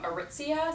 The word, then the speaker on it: Aritzia: And I saw also like a nice pleated black skirt from Aritzia.